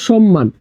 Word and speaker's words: সম্মান: ম এর উচ্চারণ হবে আছে সম্মান তাহলে দেখ মফলার সাথে যুক্ত আছে মফলার সাথে যুক্ত আছে। তাহলে দেখো এখানে উচ্চারণটা কি হবে? উচ্চারণটা হবে স আছে। তাহলে দন্তস জায়গায় তালা বসাবে সম এরপর হবে মকার মা নমান সমমান।